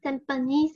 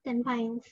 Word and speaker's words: Tampines: airport but the information is pronounced as tampons and not tempings as many people presume so what are we